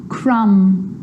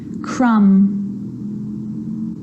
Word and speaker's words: crumb: romantically musically logically now there's a rule to remember with the letter B it's always silent when it follows the letter M Clym crumb lamb thumb dumb and plumber so practice them with me I'm not pronouncing the B I'm just pronouncing the M consonant sound Clym crumb lamb some